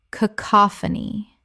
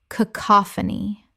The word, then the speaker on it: cacophony: Cacophony. Correct pronunciation. Cacophony. 4 syllables with the stress on the second.